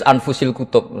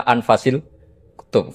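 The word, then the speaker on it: أنفس الكتب: Di sini ditulis anfusil kutub. Kalau saya baca anfasil kutub karena maknanya kitab ter baik. Kalau kitab terbaik bacanya bukan anfus tapi apa? Anfas.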